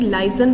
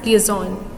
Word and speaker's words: liaison: Next role is the liaison role, or we can pronounce it as liaison.